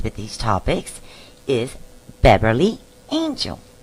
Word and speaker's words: Engel: And today's special guest will help us with these topics is Beverly Engel. She may be an angel, but it's spelled with an E.